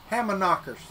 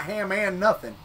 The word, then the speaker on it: Hamanaka: in in nowhere Arkansas yes you can hamanaka not ham and nothing just hamanaka hold on I'll spell